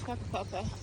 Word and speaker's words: Whakapapa: It's Whakapapa.